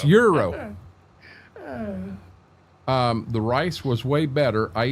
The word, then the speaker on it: gyro: To me, that says gyro, but it's Euro.